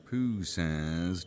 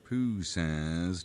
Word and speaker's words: Poussin: I'm sorry, how do you pronounce that name again? Pooh says tomb lookout.